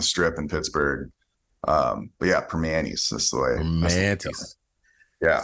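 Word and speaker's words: Primanti's: you got to get you got to pronounce it right. It's primantis, because it's part of if you're like a real Yinzer from back in the day, it would be like, go get a primanti sandwich.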